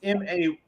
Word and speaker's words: Mayer: Or Meyer? Spell it for me. It's Mayer. Okay.